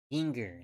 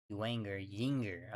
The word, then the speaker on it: Inger: Inger, that's how they're pronouncing the last name for the reliever, not Jinger.